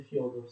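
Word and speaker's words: Фёдор: Lo zar Alessio aveva un primo figlio che si chiamava Fyodor II, che si scrive Fed con due puntini, ma si legge Fyodor II, d'accordo?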